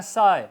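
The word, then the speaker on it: sigh: इस तरह साय, नज़ारा, मंजर, SI बोला जाएगा, GH साइलेंट रहेगा।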